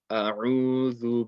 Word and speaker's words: أعوذ: You don't want to make it, you want to make sure the Ain is clear, and you want to make sure that the Dhal is not Zal. So A'udhu Billahi Minash Shaitanir Rajim.